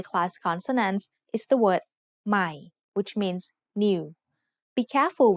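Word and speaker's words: ใหม่: when reading this word notice that there is an initial consonant cluster formed by a silent letter followed by m this means the word will start with the initial sound M of M but that letter will be treated like a high class consonant because of the silent or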